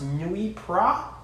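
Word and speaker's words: Noilly Prat: good vermouth our go-to i think it's pronounced nui pra at least that's how i pronounce it and we use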